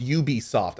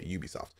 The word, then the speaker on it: Ubisoft: with that and oh it's ub soft i'm sorry i forgot they don't pronounce their company name properly i'm just kidding uh ub soft that's right they pronounce it with a u okay ubisoft um today is going